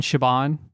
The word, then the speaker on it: Siobhan: I can't pronounce half like people have the name S I A B O N. Siobhan. It's Siobhan. But yeah.